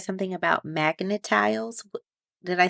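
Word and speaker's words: Magna-Tiles: So what about earlier you said something about magnetiles? Did I say it correctly? Magnetiles?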